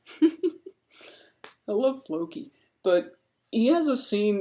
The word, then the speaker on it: Floki: But then Floki, I keep calling him Loki. I gotta just, like, write a big cue card with an F on it to condition me to say his name right.